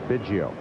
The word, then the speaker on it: Biggio: and between too, so he went to Craig's mother with a tape recorder and said, "How do you pronounce it?" She said, "Biggio." He said, "Whatever Mom says."